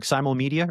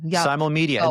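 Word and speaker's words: Simulmedia: Simo Media or Sim Media. Simal Media.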